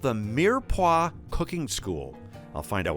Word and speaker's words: mirepoix: Now, you'll have to bear with me because my French is a little rusty, but what is Mirepoix, and am I saying it right? You did.